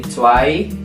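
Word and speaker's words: zwei: ya guys ya betul angka dua itu t sama ada ei jadi tai angka tiga itu dry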